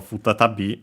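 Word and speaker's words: 再び: And yeah, apparently that happens also here for futatabi, so be careful.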